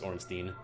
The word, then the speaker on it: Ornstein: People argue how to pronounce SMO or SM. I think pretty much everyone agrees it's Orstein. I don't know if that's correct, but most people say Ornstein.